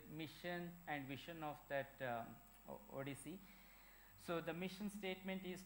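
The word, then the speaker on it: OHDSI: a project called ODC it's oh DSI it's pronoun pronounced as ODC it stands for observational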